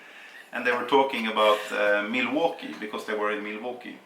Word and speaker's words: Milwaukee: But he came in and he was like, Milwaukee, well, as you know, this is an Indian name and it's pronounced Milwaukee.